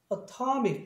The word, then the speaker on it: atomic: T급 발음을. 그래서 단모음은 atomic 이렇게 바뀌어요.